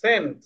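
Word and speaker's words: cent: city কান কেন হবে সি এর পরে ই আছে এজন্য সি এর সাউন্ডটা স এর মত হবে সেন্ট আচ্ছা আমরা আরেকটাতে যাই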